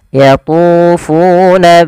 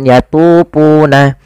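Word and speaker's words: يَطُوفُونَ: ada dah bertemu wau hati-hati juga dalam melafalkan jangan diganti dengan yatuna jangan diganti dengan p kemudian bainaha pada hafal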